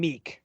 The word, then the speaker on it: Miek: I called him Miek. Yeah, that's what I always called him, and that's what Thor and Korg call him in Ragnarok and Love and Thunder. So Miek, a 1-cost, 1-power card.